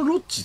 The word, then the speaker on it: ロッチ: た今日のゲストロッチのことねあれ口じゃなくてカタカナロって読むんですよや上で